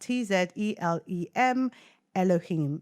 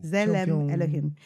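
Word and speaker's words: צלם אלהים: But this is pronounced Tzelem Elohim. So you pronounce it as Zele Elohim. Yeah. Ooh, Zelem Elohim.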